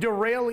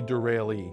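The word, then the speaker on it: Derale: do you say it a lot of people say derail and a lot you know so we get all kinds of different names but it's it's actually derailee but the name came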